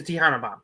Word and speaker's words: Tejana Bomb: She caught Rhea and gave her a how do you pronounce that? It's a Tejana bomb. Tejana bomb.